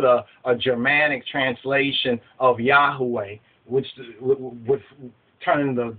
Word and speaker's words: Yahweh: not the proper way that's a w not a v sound but be that as